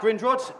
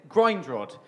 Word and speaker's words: Grindrod: My name's Grindrod, but because of the way it's spelt, people often mispronounce it Grindrod.